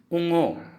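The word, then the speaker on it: ঙ: अंगा, अंगा, अंगा को हम असमिया में उंगो, बोलेंगे। क्या बोलेंगे? उंगो। इसको हम लिखेंगे उंगो। उंगो, उच्चारण उंगो होगा।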